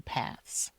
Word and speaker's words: path: Walking paths. No. Walking path. I have to stick out your tongue a little bit here.